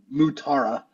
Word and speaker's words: Mutara: I had to watch a Star Trek movie video to check the pronunciation. Yeah, it's actually Mutara.